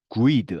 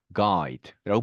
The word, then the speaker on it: guide: 자, 그래서 네, GUE 되어 있다고 이거를 guess 이렇게 발음하지 않죠. 어떻게 발음하죠? guess. 네, 그리고 guide 하지 않습니다. 그렇죠? guide라고 발음합니다. 자, 그래서 U 발음의 음가가 빠지는 경우가 굉장히 많습니다. guess, guide.